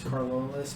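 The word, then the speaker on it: Carolus: that pronunciation c-a-r-o-l-u-s um i think the pronunciation is carlos but you can go with whatever it's it's uh named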